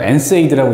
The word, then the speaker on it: NSAID: 그래서 NSAID라고 읽는다 그랬고, NSAID.